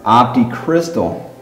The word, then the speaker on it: Optixtal: right well try this op op op it's pronounced optic Crystal optic cryst that's right it's a new company